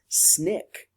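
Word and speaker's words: SNCC: Nonviolent Coordinating Committee or we pronounce that abbreviation as snick it actually came this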